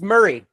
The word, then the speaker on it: Murray: It's Murray. Murray. Bill Murray. Murray. Bill Murray. It's It's spelled that way, like M U R A Y. But I believe it's just pronounced Murray.